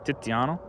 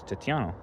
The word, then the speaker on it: Tiziano: In English, his name would actually be pronounced Titian, but he was Italian, so he's from Venice, more specifically. But so I'll say it by his Italian name, which is Tiziano.